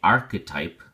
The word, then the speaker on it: archetype: cinemas model archetype and the H is silent so we say archetype which again is a